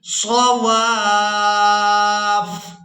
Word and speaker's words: صواف: زبر واف، واف صواف۔ آخر میں فا کو سختی کے ساتھ ہی ادا کریں گے کیونکہ فا جو ہے وقف کی صورت میں بھی مشدد ہی ادا ہوگی۔ صواف، فَإِذَا وَجَبَتْ جُنُوبُهَا فَكُلُوا